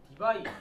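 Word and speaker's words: Debye: 원 D라고 하는 표현이 있는데 얘를 읽을 때 어떻게 읽냐면 디바이 디바이라고 읽어요.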